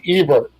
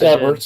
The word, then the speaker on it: Everts: tonight that is correct and Ebert and I believe I pronounced that yeah it's Everts and I'm GNA tell